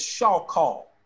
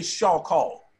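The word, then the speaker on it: shachah: Let me give you phonetic spelling of it so you know how to pronounce it. S-H-A-W dash K-H-A-W hyphen.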